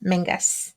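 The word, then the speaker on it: Menzies: men Mangus Mangus sorry spelled menes it spelled pronounced their Mangus Mangus yes we got in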